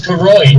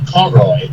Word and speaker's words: Koroi: I would like to add that my name is Koroi, not Koroy. Sorry.